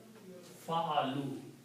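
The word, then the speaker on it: فعلوا: This alif is not pronounced.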